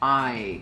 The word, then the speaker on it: I: de eu é ai apesar de se inscrever com ih a pronúncia de esse pronome é ai é assim que se fala eu em inglês ai esse som é o mesmo a letra i e depois nós vamos